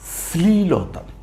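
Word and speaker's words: শ্লীলতা: গ্লা গ্লা ন রসিকারিণী গ্লানি এই শব্দ হচ্ছে স্লীলতা বড় কঠিন মনে হচ্ছে তাই না স্লীলতা তালবস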